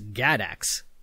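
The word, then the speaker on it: GADACS: was an experiment with an acronym that i'm going to pronounce as gadax that's g-a-d-a-c-s and it's pretty great because it's actually a multi-level acronym gadax stood for the gps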